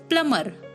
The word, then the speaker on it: plumber: one is plumber p-l-u-m-b it's not plumber it's plumber plumber be silent here mr raj is a